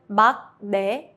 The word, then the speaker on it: 막내: When 기역 meets 니은, the 기역 turns into an 이응 sound. Examples: 막내, the youngest. Even though it's spelled 막내, Koreans say 막내. Because your mouth naturally shifts into a nasal sound, so 기역 softens to 이응.